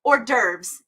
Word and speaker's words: hors d'oeuvres: I'm so bad at saying this word because in my head I see all the letters. Hors d'oeuvres, that's the word.